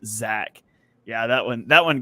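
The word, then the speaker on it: Zech: was yeah it's crazy it's spelled z-e-c-h but pronounced Zach yeah that one that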